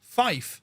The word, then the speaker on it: fife: 5 is actually pronounced Fife when it comes to radio telephony.